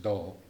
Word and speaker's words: grol: And this grol, it's written out grol, but it's pronounced dol, right?